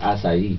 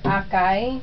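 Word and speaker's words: açaí: i pero pagpronounce is asai Oo it it it reads like akai Oo it spells like akai but it's pronounced asai kasi itong asai It's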